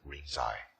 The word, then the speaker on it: Rinzai: And that's when he received the transmission in the Lingji, or Japanese would pronounce it Rinzai line.